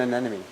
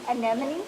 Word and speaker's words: anemone: That one's an anemone. I remember Dory trying to pronounce that in Finding Nemo, and she couldn't say it. It is a challenge for all of us. An anemone?